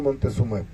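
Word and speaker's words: montezumae: pseudostrobus y el pino montezuma montezum pues así se pronuncia se escribe montezuma y de más arriba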